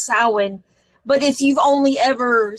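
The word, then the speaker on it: Samhain: as aware but like it's not pronounced Sam Hayne it's sin but if you've only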